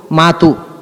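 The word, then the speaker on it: mot: ಆಯ್ತು ಅದೇ ಸಂಸಲ್ಲಿ ಮಾಯ್ತು ಮ ಅನ್ನೋದು ಫ್ರೆಂಚ್ನಲ್ಲಿ ಎಂ ಓಟಿ ಮ ಅಂತ ಉಚ್ಚಾರ ಅದಕ್ಕೆ ಅಲ್ಲಿ ಇರೋದು ಮಾತು ಅಂತಲೇ ಟಿ ಇದೆ ಸೈಲೆಂಟ್ ಇದೆಲ್ಲ ಒಂದು ಭಾಷೆಯಿಂದ ಇನ್ನೊಂದು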